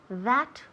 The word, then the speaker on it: that: Remember la pronunciación de that. That. La TH hay que sacar la lengua, right? That. Y soplar.